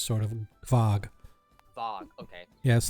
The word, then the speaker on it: Quag: tone it's sort of fog okay yes think think of k-v-a-g as opposed to q-u-a-g uh we i've been